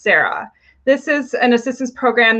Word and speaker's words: CERA: The first is the COVID Emergency Rental Assistance, which is abbreviated to CERA, pronounced SARA.